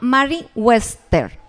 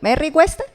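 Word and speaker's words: Merriam-Webster: es un diccionario en inglés me perdonan la pronunciación creo que se llama Mary Wester Sí merry bueno merry Wester Gracias eso y dice que el miedo es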